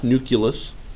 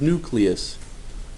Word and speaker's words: nucleus: say it another way fortunately it is also pronounced exactly the way it is spelled knew CLE us not nucleus no there's only one you in there it is nucleus nucleus words related to nucleus